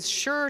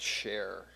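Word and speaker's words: Scher: Mr Ben English the the name's actually pronounced share Christina in her almost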